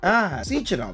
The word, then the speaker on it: Sechenov: The man's name is Dmitry Hey Siri, how do you pronounce this word? Sechenov.